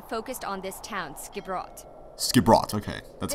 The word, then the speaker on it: Skipbrot: Skipbrot, okay. That's this how you pronounce it.